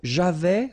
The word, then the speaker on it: j'avais: So, j'avais, final S not pronounced.